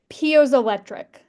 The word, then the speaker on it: piezoelectric: Well, I have a first question, and it's I'm less familiar with some of these energy projects, so make sure I'm pronouncing this right. Piezoelectric.